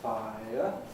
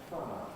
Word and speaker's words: fire: Instead of saying I just take a shortcut for my tongue and say fire. And I can stop saying it as 2 syllables, fire, and make it 1 syllable, fire. And indeed I can even make a monophthong out of this, fire.